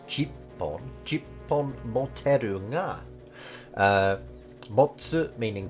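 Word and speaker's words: 十本: So you might guess that it would be pronounced juppon, but that's actually not correct. It's jippon.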